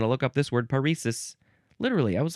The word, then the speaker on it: paresis: I want to look up this word paresis. Literally, I was like two or three pages off. Paresis, that is how you pronounce it. You can also pronounce it parasis.